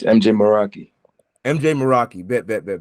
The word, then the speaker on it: Mjay Meraki: probably mess it up in the reaction it's MJ moroi MJ moroi bet bet bet bet bet okay